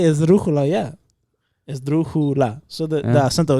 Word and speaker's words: esdrújula: Esdrújula with a D.